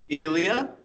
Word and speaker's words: Elia: I'm here with a new friend hi guys Lia is that Elia yeah / yeah good good pronunciation awesome so Elia tell us a little